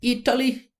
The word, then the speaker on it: Italy: understand the pronunciation right we use the flap T. Listen to her again. Proud and that will Italy accept Italy. Italy. Hear how it's all in the mouth.